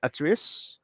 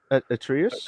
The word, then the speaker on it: Atreus: God of War uh Sunny uh because you pronounce it who plays uh atterius atreus yeah yeah so yeah and Danielle uh basuti